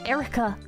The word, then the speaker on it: Air Wrecker: Air Wrecker. Pronounced Erica.